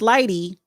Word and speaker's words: Lighty: How do you pronounce his name? Lighty.